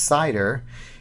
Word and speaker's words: CIDR: you with that address cidr pronounced cider is referred to as